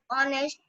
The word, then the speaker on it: honest: Ma'am, because in honest, H is silent.